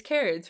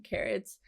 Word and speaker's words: Carat: coolest people ever i i think that's how you pronounce that it's it's carrots right like like diamonds um the coolest people